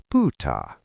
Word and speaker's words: pyytää: If you're asking for a favor or a thing, we use pa.